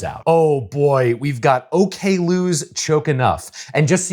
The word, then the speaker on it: Oklou: Oh boy, we've got OK Lou's Choke Enough. And just so you know, her name is pronounced OK Lou.